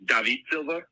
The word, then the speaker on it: David Silva: His name is actually pronounced David Silva, and he's a fucking Man City legend.